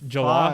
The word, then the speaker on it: jollof: You made me try jollof, and that shit was Jollof? fire. Come Yeah. on. Tell that motherfucker. Wait, how do you pronounce it?